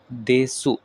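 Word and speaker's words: です: নিহান ওয়াতাশি ওয়া নিহান দেসু যদিও আমাদের উচ্চারণ দেসু হচ্ছে তবে আমাদের করতে হবে দেস ওয়াতাশি ওয়া নিহান দেস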